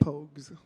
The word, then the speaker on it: Pogues: Pogues.